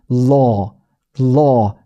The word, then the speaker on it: law: 혀와 턱은 언 거예요. 턱까지도 살짝 내려가는 느낌이 좀 있어요. 그래서 law, law. 근데 이게 이 입모양이 그래서 완전히 O처럼 생기지는 않죠. 왜냐면 발음은 다른 발음이긴 하니까. 그러니까 시작할 때는 O의 입모양으로, 근데 발음할 때는 발음하듯이 어처럼, 그리고 턱 살짝 내려가면서 law 이렇게 됩니다.